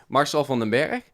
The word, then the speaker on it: Marcel Vandenberg: So I'll say it right. Marcel Vandenberg. Yes, that's the correct way to pronounce it.